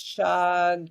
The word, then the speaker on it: shagalabala: Although Kenyans often drop the H. There's a Here, I'll put it in the chat. It's shagalabala.